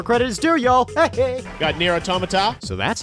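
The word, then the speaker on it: NieR:Automata: award credit where credit is due y'all got near automata so that's how you pronounce that and the winner is near a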